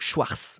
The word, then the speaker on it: Schwarz: faire à l'écrit mais il ne faut pas prononcer le T tout simplement car il n'y a pas de T dans Schwarz on prononce la fin